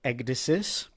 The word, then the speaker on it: Ecdysis: I'm not sure if I'm pronouncing correctly. Ecdysis. Mm-hmm. And that was actually perfect.